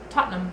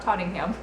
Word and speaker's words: Tottenham: whole time no no I've just been like pronouncing every single letter that's not right tottenham is how you say it not totting him thumb number oh in male quad number nine